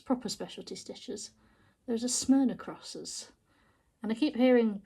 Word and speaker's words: Smyrna: look like it says s-s-m-y-r-n-a but it's smyrna it makes sense now look at it smell across yeah i just couldn't pronounce it for the life of me but